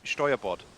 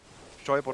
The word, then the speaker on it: Steuerbord: The correct is Steuerbord. What? Steuerbord and backboard.